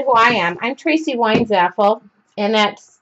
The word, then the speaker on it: Weinzapfel: I'm Tracy Weinzaffel, and that's, the P is silent.